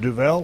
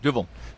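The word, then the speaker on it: Duvel: did some business with now I'm going to mispronounce the name. Is it Duvall or Duvet? Duvil.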